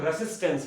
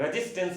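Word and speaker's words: resistance: शुद्ध प्रोनाउंसिएशन इसका इंग्लिश में करेंगे तो रेसिस्टेंस पढ़ते हैं, रेजिस्टेंस नहीं पढ़ते हैं। क्या पढ़ते हैं, रेसिस्टेंस, सिस पढ़ते हैं, रेसिस्टेंस।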